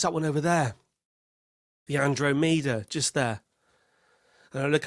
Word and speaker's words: Andromeda: And not one person has said to him, "Mate, it's pronounced Andromeda."